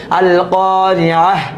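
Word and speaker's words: القارعة: আর যদি বানান করে পড়তে, মিলায় পড়তে যান, তাহলে তার উচ্চারণ করতে হবে আল কারিয়াহ, থেমে গেলে।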